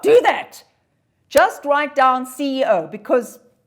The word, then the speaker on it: CEO: Well, I would say, but do you pronounce that CO? I don't. I say the CEO.